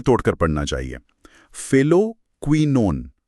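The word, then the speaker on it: phylloquinone: सर, ये जो vitamin के का वैज्ञानिक नाम है फाइलोक्विनोन, इसका सही उच्चारण फिर से दोहरा सकते हैं क्या? हाँ बिल्कुल, इसे टुकड़ों में तोड़कर पढ़ना चाहिए। फिलोक्विनोन। फिलोक्विनोन।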